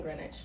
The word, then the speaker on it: Greenwich: Friday when I see this you live in Greenwich you say it right you have blonde hair